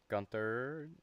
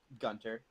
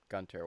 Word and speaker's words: Gunter: Gunther. Is it pronounced Gunter or Gunther? I always forget. Gunter. Gunter.